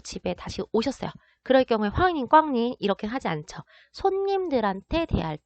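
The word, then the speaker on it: 欢迎光临: 자, 중국어로 얘를 읽게 되면은 이렇게 발음을 하게 됩니다. 환, 잉, 꽝, 린, 환인 꽝린 이라고 말을 하게 되면 중국어로 어서 오세요 라는 뜻으로 상점이나 음식점에 가면 자주 들을 수 있는 인사말입니다.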